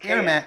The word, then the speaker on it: AirMaks: cks it's right on the bottle here KS pronounced Air Max Air Max arms Air Max arms excuse me they've got